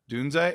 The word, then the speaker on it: Odunze: Odunes? Am I pronouncing that correctly? Odunze.